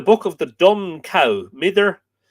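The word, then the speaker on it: Midir: In a poem in the book of the Dun Cow, Mither, M-I-D-I or Midger, Mither, I think apparently is the more correct Middle Irish pronunciation, a noted fairy chief,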